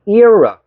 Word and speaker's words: era: Era. 발음은 error.